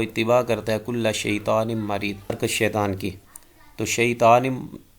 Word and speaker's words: مُرِید: ادا کرنا چاہیے تو اس کو مرید میم کی پیش کے ساتھ ادا کرنا چاہیے، جس کا معنی ہوتا